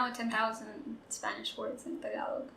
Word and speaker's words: Tagalog: So a lot of people pronounce it as Tagalog. Right? Tagalog. Yes. Guys, watching you guys. Tagalog. Tagalog. Second syllable stress. Tagalog.